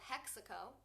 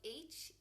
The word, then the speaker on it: HEXACO: It's called Hexaco. So it's spelled HEXACO.